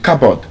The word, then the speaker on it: cupboard: The P uh sound is also silent in cupboard. It's not cupboard. It's cupboard. It's not cupboard. Cupboard. Cupboard. The P is also uh silent there.